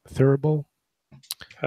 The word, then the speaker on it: thurible: Thurible. How do you spell it? With something engraved on it. Thurible. Thurible. It sounds kind of like thimble, but it's different.